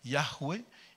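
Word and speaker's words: Yahweh: le père il traduit le fils donc c'est yahweé yAHVE Yoshua qui a donné jésus-chist mais nous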